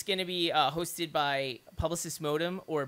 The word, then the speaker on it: Publicis: It's going to be hosted by Publicis Modem, or Publicis, if you're going to go by the French pronunciation.